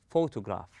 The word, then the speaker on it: photograph: We say photograph. We stress on the first syllable, then we go easy.